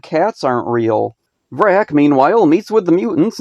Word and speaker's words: Vrak: Also, he says his own name here and pronounces it Vrak. My name is Vrak.